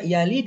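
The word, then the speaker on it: يلد: Ini baca yalid ya, bacanya mati.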